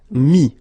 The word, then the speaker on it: mis: Final S not pronounced, so mettre, to put, mis.